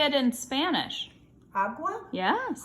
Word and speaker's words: agua: Agua? Yes. Aqua or agua? Agua. Agua.